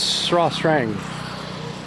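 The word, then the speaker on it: Srah Srang: It's spelled Sras Strong, but it's Sra Strang.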